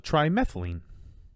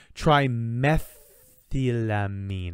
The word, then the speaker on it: trimethylamine: fish, and turns it into a compound called trimethylene. Trimethylamine. I know it's super important to pronounce all of the things in compounds in chemistry.